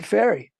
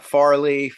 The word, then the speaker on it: Fairey: We're on a board together, Shepard Fairey. Shepard Fairey. I'm saying it right? It's not. It sounds like the boat that goes across the. Yeah. Yeah. People always want to say Farley, Fairey. No, it's just like Tooth.